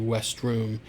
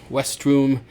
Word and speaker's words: vestrum: I generally just have my students just do westrum. And yes, I know it sounds like maybe have a speech impediment. I did when I was in the third grade, and I could not pronounce my R's, and that's exactly how I would pronounce my R's, like Worcester. Let's go to the park.